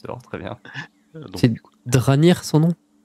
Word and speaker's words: Dranir: Donc, C'est Dranir son nom? Dranir, ouais, comme ça se prononce, D-R-A-N-I-R.